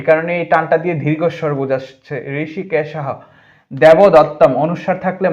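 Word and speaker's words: হৃষীকেশঃ: পান চনিয়ম জফলার কারণে ইয় হয় জনিয়ম ঋষিকেশ ঋষিকেশহ ওটা বিলুপ্ত হয়ে হ উচ্চারণ হবে এ কারণে টানটা দিয়ে দীর্ঘস্বর বুঝাসছে ঋষিকেশহ দেবদত্তম অনুস্বার থাকলে ম হয় তাই দেবদত্তম এই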